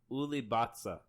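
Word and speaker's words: улыбаться: So- It's pronounced Ulibatsa.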